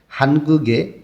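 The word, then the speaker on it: 의: এর মধ্যে থেকে আমরা শিখব হানগুগে কোরিয়ার। উই এর অর্থ র বা এর। উইটা পার্টিকেল হিসেবে শব্দের শেষে বসলে তখন উই উচ্চারণ না হয়ে এর উচ্চারণ হয়।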